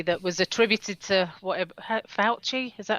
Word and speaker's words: Fauci: I was reading a post recently that was attributed to whatever, Fauci, is that how you pronounce his name?